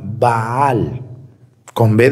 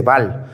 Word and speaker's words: Baal: demonio que se llama baal con b de burro doble a y L al final va por eso se dice así no se dice bal se dice baal doble a para los